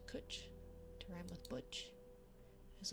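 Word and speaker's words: cwtch: actually oh okay means hug or Embrace is pronounced cooch to Ryme with Butch is a colloquialism that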